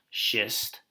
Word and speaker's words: schist: use this one here this is pronounced schist we don't need to